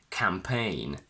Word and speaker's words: campaign: GN in final position, where the G is silent again. Campaign, sign, design.